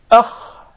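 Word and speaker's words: خ: So how would we pronounce the Kha? Watch this and watch the changes which take place in the throat and how your mouth and tongue would tend to pronounce the Kha. Akh. Akh. Akh.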